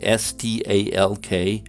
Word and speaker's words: stalk: especially among older residents is the l in s-t-a-l-k pronounced or not well in rural utah tends to be pronounced with an l stalk a bit more than urban